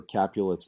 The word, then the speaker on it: Capulet: And if you're wondering, how do I remember Capulet's Montagues? It's Juliet Capulet. So it rhymes.